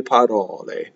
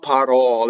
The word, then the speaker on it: parole: So the accent of parole is on the middle syllable, and you have to know whether it's open or closed.